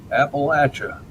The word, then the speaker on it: Appalachia: Is it Appalachia or Appalachia? Appalachia. Or I'll throw an apple at you.